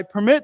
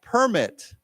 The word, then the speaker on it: permit: keep mentioning these words where there's two different pronunciations so i permit someone to do some means i allow them